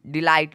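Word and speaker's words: delight: DELIGST डिलाइट, डिलाइट मतलब होता है आनंद। आप देखोगे यहाँ पे भी ट निकला है टी का, लेकिन जी एच का कोई भी उच्चारण साउंड नहीं निकला है।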